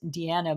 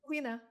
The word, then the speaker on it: Deana: on the podcast because I thought your name was pronounced “De-anna”, but it's actually “Dean-a”.